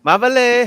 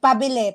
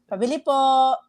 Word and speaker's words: Pabili: Mabale, how you say it? Mabale, Pabili, pabili. pabele, Pabili po.